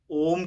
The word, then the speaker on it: ओम: जो कुछ रिसर्च हुई है यूनिवर्सिटीज़ में, अगर ओम को देखें, वैसे तो ओ एम कहा जाता है लेकिन ए यू एम करके प्रोनाउंस होता है।